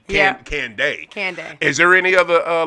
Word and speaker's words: Kandeh: It's like Kandeh. That's what's up. Now you'll remember it. Well, you put Kandeh in there, so when you text it to me, so yeah. I wanted to hear the pronunciation because I just wanted to make sure I got it right. But did I get it right? Kandeh. There it is, Kandeh. Yeah, there it is, not Kandeh. Kandeh.